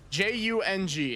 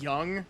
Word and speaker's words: Jung: J U N G. Is that young as like? I assume that that's pronounced as young and not Jung.